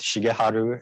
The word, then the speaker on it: Shigeharu: forth during this talk calling me um shige which is kind of more of a japanese pronunciation and sometimes people call me shiggy here in town which i call my columbia pronunciation of my name and the thing is they're both both pronunciations both shigeharu and shiggy are 100 correct as far as i'm concerned and and that's because